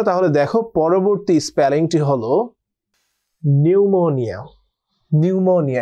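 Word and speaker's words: pneumonia: ওকে বন্ধুরা, তাহলে দেখো পরবর্তী স্পেলিংটি হলো নিউমোনিয়া। এটা পি দিয়ে শব্দটি শুরু হওয়া সত্ত্বেও আমরা উচ্চারণ করছি নিউমোনিয়া। ব্রিটিশ অ্যাকসেন্ট এটাকে বলছি আমরা নিউমোনিয়া, অ্যান্ড আমেরিকান অ্যাকসেন্টে আমরা বলছি নিউমোনিয়া।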